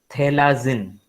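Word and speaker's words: Phthalazine: और ये जो दूसरा कंपाउंड है उसका नाम है थैलाजिन। ओके, तो आपको नाम याद रखना है सिनोलिन और थैलाजिन। इसमें पी जो है वो साइलेंट है, पी को आपको बोलना नहीं है, पी इज साइलेंट।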